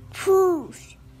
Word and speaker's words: Pooj: Belle is going to show you how to pronounce it. Nookie, can you say the word Pooj? Can you say Pooj for me? Pooj.